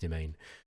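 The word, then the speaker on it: demesne: way Dees or whatever it is but it's pronounced demain and confusingly the game uses domain um also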